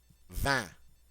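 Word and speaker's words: vingt: sound D and 20 van van van the G and the T are silent that I in is the a nasal sound van 21 v v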